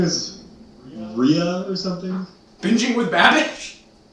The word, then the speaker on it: Rea: But it is spelled R-E-A. Now what does that say? It says Rhea.